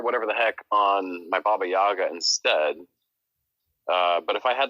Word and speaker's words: Baba Yaga: Well, now it's super fun on Baba Yags, but Baba Yags. Too much. That's Prometheo's like so pissed right now. He's like, "It's Baba Yaga."